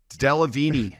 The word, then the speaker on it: Delevingne: Delevingne Delevingne.